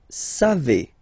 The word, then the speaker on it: savez: Then, vous savez, classic ending for vous, E-Z, but then phonetically it's E, vous savez, savez.